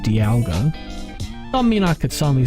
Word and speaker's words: Dialga: name but hey the people say it's supposed to be pronounced Dialga all right so I